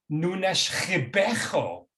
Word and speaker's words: Nunes Ribeiro: I'm pronouncing it Nunes Ribeiro. I'm sure that's not the proper way. She said, Nunes Ribeiro. So a lot of guttural sounds there.